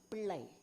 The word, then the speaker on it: Pillai: One more thing I have found, Pillai. is rhyming with neuron. And Pilla is rhyming with neuroglia.